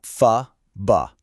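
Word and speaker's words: phở: You'll hear it pronounced kind of like fba.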